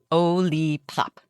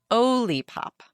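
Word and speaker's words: Olipop: Ollie pop. It's not lollipop like lollipop. It's Ollipop.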